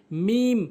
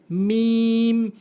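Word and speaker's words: ميم: হচ্ছে লাম লাম এরপরে মিম ভুল উচ্চারণ সঠিক সঠিক উচ্চারণ হচ্ছে দুই ঠোটের শুকন অংশ মিলিত করে মিম উচ্চারণ করতে হবে। মিম মিম নুন ভুল উচ্চারণ।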